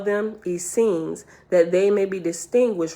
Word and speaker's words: Essenes: On page 640, Essenes says, when this word is used in heaven, it is usually pronounced Essean, but when on earth, Essene.